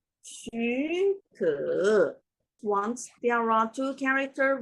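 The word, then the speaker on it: 许可: the sound change rules, we should change the first ones from the third tones into the second tone.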